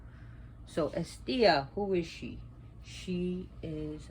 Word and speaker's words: Hestia: be pronounced as Thea the H is not pronounced it's estia not Hestia so estia who is she she